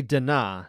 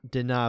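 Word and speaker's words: Danaa: two of uh it's it's bakery dinah not deny bakery allegedly i don't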